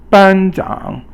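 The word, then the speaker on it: 班长: Okay, so the next one is 班长. 班长 is first tone, which is a flat tone that's high, and then the third tone, which is a falling and a rising tone.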